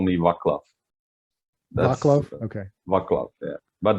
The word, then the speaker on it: Václav: talk with Vaclav.